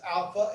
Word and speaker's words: alpha: But the first one is alpha, and it's pronounced as in father, and beta as in ball, it's a B, we're used to it.